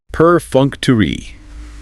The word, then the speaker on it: perfunctory: Perfunctory. Stressed on the second syllable. The third syllable is a schwa, and it ends with that long E sound.